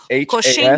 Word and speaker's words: Coxinha: This one is spelled COXINHAS.